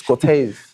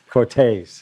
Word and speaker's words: Corteiz: How to say it, which is taser. Yeah. Only without the The yeah, you just say tase, yeah. Corteiz.